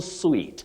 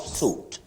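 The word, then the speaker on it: suite: then your second word you say sweet presidential sweet not suit then James mushir you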